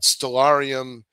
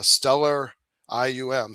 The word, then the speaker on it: Stellarium: The second time I had my binoculars, had calibration, I had Stellarium pronounced stellar ium Stellarium on my phone, which